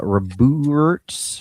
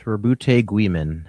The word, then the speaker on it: Roboute: Uh, Rabut. Rabuti. Actually, like the French Roberg.